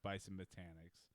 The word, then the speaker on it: Bison Botanics: I know I mispronounced it last week it's not botanicals. Bison botanicals. It's bison botanics out there in the out in Buffalo.